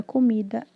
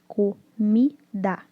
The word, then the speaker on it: comida: Das sílabas da palavra comida, a sílaba com maior tonicidade, que é a tônica, é a mi, que é de comida.